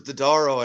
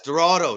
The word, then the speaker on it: Dorado: uh oh all i can think of is dodaro and i know it's not that no it's the the cheetah guy uh uh look oh len silverado i didn't say it right yes dorado dorado yes there you go see that's what